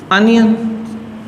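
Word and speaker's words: onion: जब आ की आवाज़ आ रही है, अब देखो इसको प्रोनाउंस कुछ बच्चे बहुत गलत करते हैं, क्या बोलते हैं, ओ। प्रोनाउंसिएशन पे फोकस करना आपको। हालांकि ओ भी एक वोवल ही है, लेकिन प्रोनाउंसिएशन क्या है, अनियन, अ की आवाज़ है।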